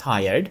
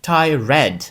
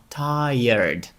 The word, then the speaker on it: tired: Бачите, воно пишеться ніби як tie red. І звичайно, що так ви і прочитаєте, коли перший раз бачите це слово і ніхто вам не сказав, як правильно його вимовляти. Так ось, слово втомлений англійською звучить не tired, хоча так воно пишеться, а tired. Tired.